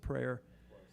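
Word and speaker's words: Prieur: on um it's on prayer Street they pronounce it's p r i e r looks like f French but they in New Orleans they pronounce it prayer and she said yeah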